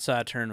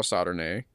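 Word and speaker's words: Sauternes: I thought Saturn was... it's actually... You know, how, right? do you, how do you spell Saturn? S-A-U-T-E-R-N-E-S. Oh, Saturn-A. Saturn-A. I thought it was Saturn. Saturn with a silent E-S.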